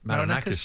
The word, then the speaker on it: Marinakis: in the same way that you grab poor Marinakis, is that how you pronounce it? Marinakis, yeah.